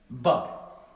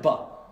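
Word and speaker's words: ب: Ça, je vous confirme que c'est la lettre Ba. Elle s'appelle Ba. Mais la lettre Ba, elle s'appelle Ba, mais elle ne se prononce pas Ba. C'est B, B, B, B. C'est le son simplement B.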